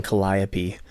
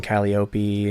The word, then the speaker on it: Calliope: a band called waking Calliope and but people were saying it wrong and spelling it wrong they're like walking Kylie Opie and yeah I was